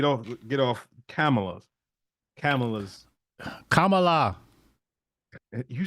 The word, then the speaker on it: Kamala: get off camela ca's Kamala you saying it wrong man cameela no it's Kamala kamala's you say come